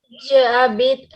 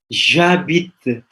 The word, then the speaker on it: J'habite: Je habite Tasikmalaya. Non, c'est pas je habite, Cindy. J'habite. J'habite semuanya ya, bukan je habite.